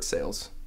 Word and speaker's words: Sales: The only accident is that it's kind of spelled like the sail that's on a boat, where it should be more like the bartering type. The ALE version, that one would make sense.